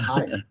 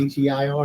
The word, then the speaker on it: heir: Higher. Huh? H-E-I-R. Oh, an heir.